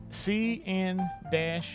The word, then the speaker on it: CN-E: It's the Canon CN-E.